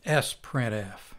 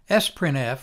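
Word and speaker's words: sprintf: our own version of s printf which is the sister of f printf s printf which is sometimes pronounced sprint f is very much like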